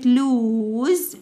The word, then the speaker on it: lose: عندي كلمة lose lose يخسر. Lost خسر. Lose lost lose lost. ملاحظ ان هنا الاس بنطقها ز لكن هي بنطقها س.